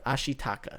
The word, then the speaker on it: Ashitaka: she it's taka it's uh it's not good ashitaka that's how you say it yeah um great